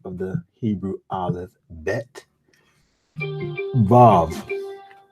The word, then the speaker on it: Vav: Vav. The Vav makes the V sound. It is pronounced the same as the Vet.